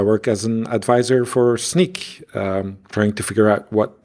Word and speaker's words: Snyk: So I say Snyk.